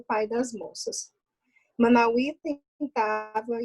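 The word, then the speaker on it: Manawee: E a pronúncia é Manauí mesmo, né?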